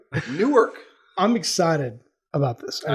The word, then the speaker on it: Newark: was an emphasized york no i said new work okay okay okay the reason why is because you me up last time on this one that was you always say it wrong newark i'm excited about this